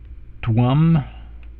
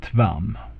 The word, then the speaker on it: tvam: And then we take the other word here, which is tvam, and note also what I'm doing here with the Roman V here. It's actually a softer V. It's more like a W in English word.